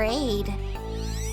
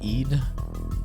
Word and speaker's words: Eid: dad gave me for Aid anyway I went down into the basement and then he slammed the door on me and ran away isn't it pronounced Eid I was so scared